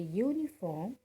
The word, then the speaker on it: uniform: Because when we say uniform, it gives a sound as U, Y-O-U, and U starts with Y, and Y is a consonant.